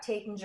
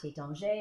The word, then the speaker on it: Taittinger: And so you've got Taittinger or Taittinger or Tattinger. All of those, I have it on authority from Vitalie Taittinger herself, that any of those pronunciations is cool.